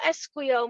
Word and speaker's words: esquío: No esquío mucho durante el invierno. Invierno. No esquío mucho durante el invierno. And esquiar is not pronounced with a we, it's an E. Esquío, no esquío.